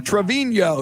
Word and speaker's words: Trevino: this day in 1939 lee trevino or trevino to be more specific pronounce it a little better lee trevino who called